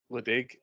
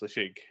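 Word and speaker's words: Ledaig: a heavily peed whiskey called league which is spelled l e d a i g. So if you've seen that it's not league it's lashig.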